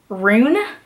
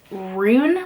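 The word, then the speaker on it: Ruhn: got the audiobook and I found out his name is rune like that's how you say his name but I kept renouncing it like run because it's are you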